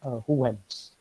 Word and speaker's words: Huygens: So in English it is Huygens, but actually he was a Dutch physicist, and the pronunciation is very difficult. It's Huygens, okay, Huygens principle.